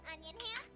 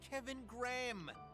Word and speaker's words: Kevin Graham: Oh, and it's nice to meet you too, Mr. Onion Ham. It's Kevin Graham.